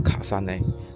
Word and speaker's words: 累: 那很多人以為淚是那個女人的名字但在日本裡淚讀成卡薩內，真正的意思是重疊、重置。